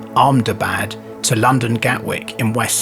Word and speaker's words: Ahmedabad: Air India 171 involved a Boeing 787 Dreamliner travelling from the Indian city in Gujarat, pronounced Ahmedabad, to London Gatwick in West Sussex in the UK.